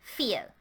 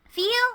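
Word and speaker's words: viel: pronounced like this because v in german always sounds like an f so again we have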